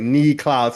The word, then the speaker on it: Niklaus: then like Daniel, like his pronunciation is like it's like knee Klaus.